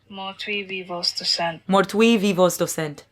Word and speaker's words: Mortui vivos docent: Pronunciation. Let's see. How do you say it? Mortui vivos docent.